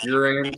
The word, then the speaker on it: Uran: 195 pound outside linebacker and strong safety Derek uran did I pronounce that right yes sir you did youan